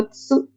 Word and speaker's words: つ: Next hiragana character is tsu.